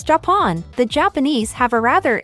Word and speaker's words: Japon: is read as Japan, or from French, where it is roughly read and pronounced as Japon.